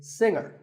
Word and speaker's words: singer: word is pronounced subtle another popular word with a silent letter is singer the g is silent now we say finger we say the g younger again with the G but singer no G and what would you